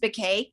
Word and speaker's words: Becquet: been no but k my name is actually pronounced by k it's spelled b-e-c-q-u-e-t comes from a french